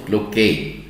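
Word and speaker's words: Cloquet: اسمها ليمف نود اوف كلوكي، دي واحده من الديب انجوينال بس لها معامله خاصه ليمف نود اوف كلوكي. التي ما تتنطقش لان الراجل ده فرنساوي وصفها في نفس الوقت واحد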